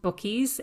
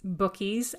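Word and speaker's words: Buc-ee's: It's called Bookies. It's spelled B U C E S. Bookies.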